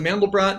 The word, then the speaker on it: Mandelbrot: it that makes it stand out from a male brought or am i pronouncing that right mandelbrot there's the mammal yeah there's the mandelbrot and there's multi brats where you change the